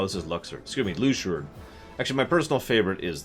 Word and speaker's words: Luxord: Yeah, I've been saying Luxord for years, but they never said it out loud until Kingdom Hearts 3, and then they suddenly pronounce it Lushard, and I'm like, whoa! Okay, it's Lushard, apparently.